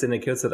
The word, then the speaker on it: Daniel Kocot: So my name is Daniel Kocot.